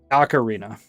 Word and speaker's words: Ocarina: Uh Ocarina is what it's actually called. I did it. Are you proud of me? There's no R in there. It's not Ocarina, you know.